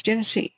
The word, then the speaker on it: Genesee: How do I even say Genesee? It's Genesee, right? I'm saying it right, okay.